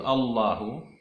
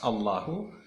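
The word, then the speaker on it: الله: Ada huruf lam di situ, Allahu. Lamnya di situ ada dua hukum bacanya. Kadang dibaca tafkhim, kadang dibaca tarkik, kadang dibaca tebal, dan kadang-kadang dibaca tipis. Jadi itu kalau kita dapatkan lafaz Allahu, kadang dibaca Allahu tebal, kadang dibaca Allahu tipis.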